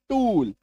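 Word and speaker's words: tool: बड़ी उकार की मात्रा F double O D food M double O N moon T double O एल टूल are double O एफ P double O एल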